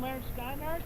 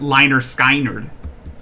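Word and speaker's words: Lynyrd Skynyrd: Yes, that's from Leonard Skinner, and I like that song. I'm pretty sure Shanny would pronounce it Liner Skynerd.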